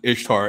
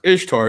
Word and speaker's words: Ishtar: we've all seen right this is ishtar pronounced easter right which actually if you really do pronounce ishtar it doesn't sound like easter but anyway easter was